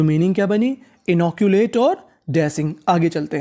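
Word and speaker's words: inoculate: मात्रा का काम करेगा और आखिरी में इ का उच्चारण नहीं करना तो पूरी meaning इनोकुलेट इनोकुलेट इनोकुलेट इनोकुलेट का मतलब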